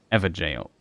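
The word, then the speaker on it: Evergaol: it's even a it's it's even a soft G okay just for completeness sake to not drive the people here insane with my pronunciation a jail ever jail because I said that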